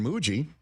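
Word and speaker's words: Mougey: And sure enough, the new general manager, Darren Muji, rhymes with Bougie.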